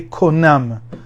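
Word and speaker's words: קונם: You say konam.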